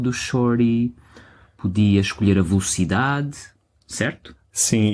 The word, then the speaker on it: velocidade: Se for um shorty mais fácil, podes desafiar-te para ouvir a uma velocidade mais rápida. Velocidade. Velocidade. Não, velocidade. Velocidade. Velocidade. Não é velocity.